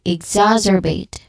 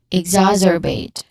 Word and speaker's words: exacerbate: So this you stress here in the second syllable zas. You get exacerbate. Again, exacerbate.